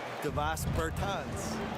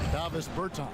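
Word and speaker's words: Dāvis Bertāns: life, Davos Bertans. Is that how you say his name? Davis Bertans.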